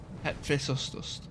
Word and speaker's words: Hephaestus: Hephaestus. Hephaestus. Yeah, it looks how you pronounce it looks nothing how it's spelled.